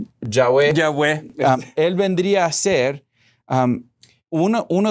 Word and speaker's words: Yahweh: Eso nos viene a testificar entonces que Jesucristo, Jehová, o en el hebreo lo pronunciarías Yahweh.